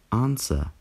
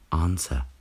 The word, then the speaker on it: answer: Answer. Pozor, je tady dvojité V, které je silent. Answer.